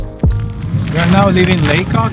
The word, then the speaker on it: Lacock: We are now living in Lacock. It's actually pronounced Lacock, not Lacock.